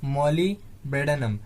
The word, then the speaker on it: molybdenum: तो इसका स्पेलिंग देख लीजिए, क्या है, MOLYBDENUM। क्या है, मॉलिबेनम। तो डी को हम लोग क्या कर रहे हैं, साइलेंट करके पढ़ रहे हैं, मॉलिबेनम।